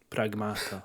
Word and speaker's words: Pragmata: No, Pragmata. Ah, yeah. Yeah, me too. Just say it like Don Corleone.